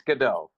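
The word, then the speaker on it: Godot: like God dot is that like waiting for gdau yeah the very well-known very pop culture relevant waiting for gdau which I read once well okay that's how you pronounce it though it's gdau that's how I've heard people uh from the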